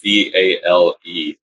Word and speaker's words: vale: They use Vale, and I want to say it's Vale. Is the spelling, and the pronunciation is like the V turns to a B.